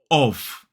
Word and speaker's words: of: is what we call the strong form of of so it's that o vow sound the same vowel sound we see in sock and v v v which